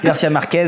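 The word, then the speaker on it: García Márquez: Garcia Marquez et et j'adore comme tu le prononces à l'espagnol. Garcia Marquez, voilà.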